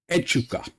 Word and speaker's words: Echuca: today we're going to be racing today at euka that's how my friends advised me to pronounce this place um we're going to be